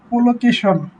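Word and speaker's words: collocation: এটা হচ্ছে চুলকেশন না কলোকেশন? আমি শিওর জানি না। তো এআই কেই বলি যে হোয়াট ইজ প্রোনাউন্সিয়েশন? প্রনাউনসিয়েশন? এটা হবে কলোকেশন।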